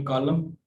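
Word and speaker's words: coup: और इसी तरह से ये कू है, यानी इसको पी प्रोनाउंसिएट नहीं की जाती, यानी एक किस्म का जो है वो कूप नहीं होता।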